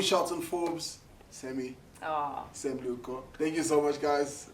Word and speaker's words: Lehoko: Lehoko. Yeah, I said it right. Yes. I said it right. This is Yes. the first official Yes. episode Bueno. of Iconic. You're doing Shelton Forbez, Sammy, Oh. Sam Lehoko.